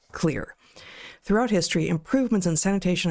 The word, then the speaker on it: Xlear: It's Xlear, but it's spelled Xlear, pronounced clear.